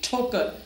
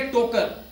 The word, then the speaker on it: ठोकर: हैं ठोकर नयाज बेग ठोकर ठोकर शुरू कैसे होता है ठ से आप कभी नहीं कहेंगे टोकर यू विल से ठोकर सो दिस ठी इज